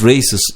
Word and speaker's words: race: Different races live together in the country. Race எனும் சொல்லின் homophone race. கிரணங்கள். Raise என்ற இன்னொரு சொல்லும் உண்டு. Race என்ற சொல்லுக்கும் raise என்ற சொல்லுக்கும் உச்சரிப்பில் சிறிது வேறுபாடு உள்ளது. நன்றாக கவனியுங்கள்.